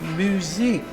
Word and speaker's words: Muzak: Oh, it's Muzak. What? Muzak. Muzak. Muzak. No, so it's pronounced music.